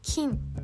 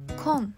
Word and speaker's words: 近: ず姉あ生実は金と今です目を挙げると